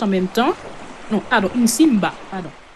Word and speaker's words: Nsimba: Non, pardon, Nsimba, pardon. N-S-Imba. Nsimba. Et le second s'appelle Nzouzi. Comme ça se prononce.